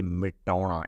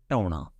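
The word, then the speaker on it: ਮਿਟਾਉਣਾ: But in Punjabi, we don't say mitauna in speaking, right? So we say tauna, all right? So M sound at the beginning, we just eliminate. We just say tauna, all right?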